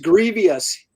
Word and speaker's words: Gravois: It's pronounced Grievous. Believe it or not.